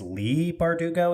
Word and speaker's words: Bardugo: and crooked Kingdom by I think it's Lee bardugo is how it's supposed to be pronounced the six of crows